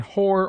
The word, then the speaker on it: whore: In whore only, and sometimes in wholesome, WH is sounded like simple H.